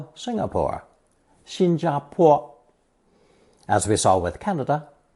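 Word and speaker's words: 薪: the lower left corner the pronunciation is the same as the original first tone Shin the character for firewood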